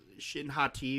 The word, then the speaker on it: Shin Hati: minute uh discussion and we know it's pronounced Shin hot te but we just started calling her well I just started calling her no one objected uh Shin hottie she just Shin hottie